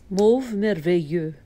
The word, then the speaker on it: Mauve Merveilleux: Maybe I'll insert how she says it's supposed to be pronounced. Mauve merveilleux.